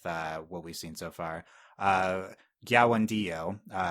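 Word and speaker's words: Kiawentiio: Gyawandio, spelled with a K, pronounced like I just said, for her performance as Katara so far, but I don't think she got a ton of material.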